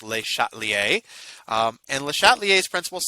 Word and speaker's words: Le Chatelier: they shot a lire or something but it's pronounced with a shot Li a and the shot liaison suppose says this if